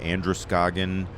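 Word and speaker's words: Androscoggin: Um and then this is me cruising up the Andress Goagan rhymes with Walton Gogggins River.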